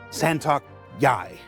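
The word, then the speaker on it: Santok.yāi: Santok Yai. It's pronounced just like it's spelled.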